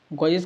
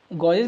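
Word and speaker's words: gauges: गॉजेज का मतलब क्या होता है? इसकी स्पेलिंग क्या होती है पहले आप ये बताइए। गॉजेज नहीं है, गज है।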